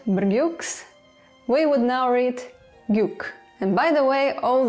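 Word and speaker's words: བརྒྱུགས: The prefix, the superscript, and the second suffix are not pronounced anymore.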